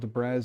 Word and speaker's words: debris: In case you say debris, because it's spelled debris, even though it's debris.